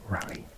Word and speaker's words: Raleigh: the war of independence my friend is from Raleigh and she pronounced It Raleigh if this are in the UK be Raleigh not Raleigh New Hampshire incidentally but